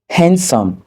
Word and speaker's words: handsome: La lettre D n'est pas également prononcée dans les mots tels que sandwich, le sandwich, Wednesday, le mercredi, handsome, beau.